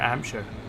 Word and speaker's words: Hampshire: Hampshire, as it's pronounced around there, Hampshire. Yeah, there's no H in it. Well, there's only one H in it.